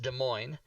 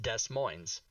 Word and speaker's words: Des Moines: a city in iowa d-e-s second word m-o-i-n-e-s pronounced des moines and there's a city in washington d-e-s second word m-o-i-n-e-s same thing and that is pronounced des moines and many people get those confused indeed as